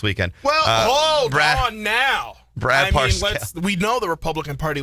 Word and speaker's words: Parscale: I always say his name wrong. Brad Parscale. Parscale. There's an R in there. Parscale.